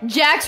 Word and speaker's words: Jax: Jax rhymes with axe. Jax also rhymes with facts, which y'all do not have.